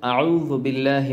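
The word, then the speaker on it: أعوذ بالله: ঠোঁট গোল করতে হয় এখানে আরেকটি বিষয় অনেকে এই জালের জায়গায় বলে ফেলি টা মোটা হরফ আর জাল হলো চিকন হরফ তো এখানে যদি আপনি শুদ্ধ করে উচ্চারণ করতে চান তাহলে এই জালটাকে চিকন করতে হলে আপনার সাউন্ডটাকে চিকন করতে হবে কিভাবে দেখুন আউজুবিল্লাহি মিনাশ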